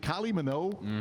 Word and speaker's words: Kylie Minogue: Is it Kylie Minogue?